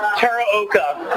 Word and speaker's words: Teraoka: I thought I'd butcher your name since you butchered fighting Tara oka is my last name a quick shout-out to